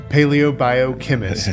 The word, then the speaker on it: paleobiochemist: Paleobiochemist. Yes, takes lots of practice. You practice. It's like you say paleo and bio and chemist. Bring them together.